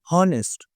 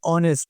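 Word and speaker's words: honest: ये हॉनेस्ट नहीं है, ये ऑनेस्ट है। और जब आप ऑनेस्ट को प्रोनाउंसिएट करते हो तो किसकी साउंड प्रोड्यूस हो रही है? ओ की साउंड प्रोड्यूस हो रही है। सो दैट्स व्हाई यहाँ पर हम आर्टिकल एन का यूज करेंगे।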